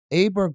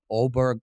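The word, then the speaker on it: Åberg: Aberg played so Oberg played so impressively last year.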